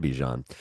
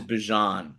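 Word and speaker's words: Bijan: That makes sense to Infinity and Bejan. Uh my heart rate is 74 BPM and I'm just sitting here. So the fact that what Mark the pronunciation is Bjon Bjon to Infinity and Bjan.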